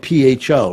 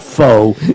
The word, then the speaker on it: pho: So pho is spelled Pho, right? PHO, correct? Yeah. Yeah, but I had a friend who explained to me it's not faux. Yeah, it's pho.